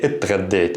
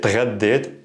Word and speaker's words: تغديت: Now, pronunciation-wise, if you're having trouble with the two consonants here, t and gha, saying them together, you can add an e at the beginning. So you can say اتغديت, اتغديت. This is also a very common pronunciation by native speakers.